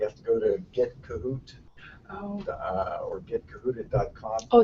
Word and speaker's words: Kahoot: Another polling tool, if you've never used it before, is a program called Kahoot. Kahoot? Kahoot it. And the reason you might want to use it, it's spelled K-A-H-O-O-T, so if you look that up,